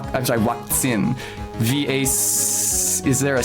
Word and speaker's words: Vakzin: And the German word is something like Vakzin. Vakzin. Is there a C? Z-I-N? The Z is pronounced like a TS in German, tse, and the V is pronounced like a W.